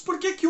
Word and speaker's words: por que: Se o porquê é a primeira palavra da sua pergunta, você não pronuncia esse que de forma tônica.